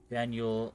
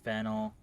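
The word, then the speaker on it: Faneuil: I was what Hall don't let the French spelling confuse you the name of the building is pronounce vanel or fenel all getting it wrong is a good way to indicate you're not from around here but it's also a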